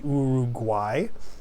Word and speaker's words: Uruguay: could be urug guay that's really how we pronounce it because when we say this word we pronounce these first two U's as U and the third U is pronounced as a W as a w w